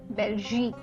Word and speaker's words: Belgique: what yes next is belgique okay so the q u which is written at the end you pronounce it as k belgique right let's look